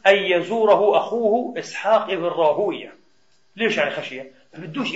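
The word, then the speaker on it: راهويه: طبعا يا اخواني اسماء المحدثين مثل مردوية وراهوية هكذا تلفظ عند المحدثين، عند النحاة ابن راهوي وهكذا مثل سيباوي، لكن عند المحدثين بدونش راهوي، غلط، عند المحدثين راهوية، اسحاق ابن ابراهيم الحنظلي ابن راهوية قدس الله سره، هيك المحدثين يرفضونها غير لفظ ايش النحاة، انتبهوا.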